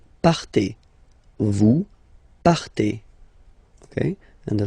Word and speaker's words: partez: Okay, then for vous, classic ending for vous as well, EZ, but then you pronounce it et, vous partez.